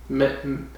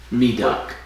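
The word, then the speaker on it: Medok: Madoc. They pronounced it Madoc, but then someone else pronounced it Medoc. Medoc, yeah. It's kind of inconsistent. They've got different pronunciations.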